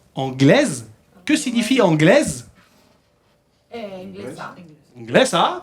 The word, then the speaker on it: anglais: Et ensuite, vous avez anglaise. Anglaise. Que signifie anglaise? Inglesa. Inglesa, très bien. Comment on dit inglés? Anglais. Anglais, sin pronunciar la S.